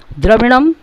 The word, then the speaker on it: द्रविणं: च सखा त्वम एव, त्वमेव, त्वम एव विद्या द्रविणम, त्वम एव सर्वम मम देव देव। द्रविणम के ऊपर जो बिंदी लगा हुआ है वो म का उच्चारण कराता है।